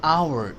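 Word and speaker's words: hour: an apple an एग एन एन of view N orange N umbrella an आवर H silent है तो ओ आ गया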